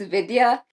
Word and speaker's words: Vidya: Today we have Vidia. Is that how you pronounce it? Yeah, that's really close. It's Vidya.